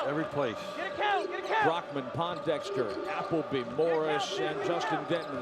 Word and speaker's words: Pondexter: help you every every place count count Brockman Pondexter applebe Morris and Justin dman the Soph morality junr out of carandale Illinois now on the floor for Washington Pondexter overplays nearly forces a steal and then commits